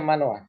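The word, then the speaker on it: מנוח: Bacanya Manoa.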